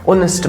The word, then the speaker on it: honest: when we pronounce it honest man, हम नहीं कहते हैं बच्चा honest man, how we pronounce it, we give it a vowel sound, ओ ऑनेस्ट मैन।